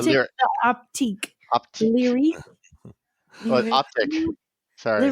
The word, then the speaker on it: Optiq: Then if they're going to put a Q, they should call it Optiq. Like, just go with it. It's probably too French.